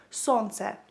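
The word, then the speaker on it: сонце: Okay, so if you want to say sun in Ukrainian, you would say it like sonce, sonce, sonce.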